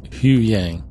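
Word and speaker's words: Huyang: So I saw Chopper, I saw He Yang, is that how you say it? He Young? Hugh Yang. Hugh Yang. It seemed like every character was pronouncing it differently in the show.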